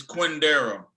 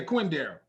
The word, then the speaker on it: Quindaro: It's Quindaro. Yeah, Quindaro. It's spelled Quindaro.